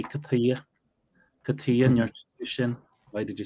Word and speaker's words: cad chuige: But there's pronunciation, the way it comes out in the wash when people talk is katia.